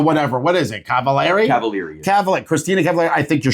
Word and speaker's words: Cavallari: Cavallari.